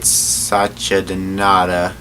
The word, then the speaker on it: Satchidananda: Swami, gotta pronounce his name right, Satchidananda, was an Indian religious teacher, spiritual master, and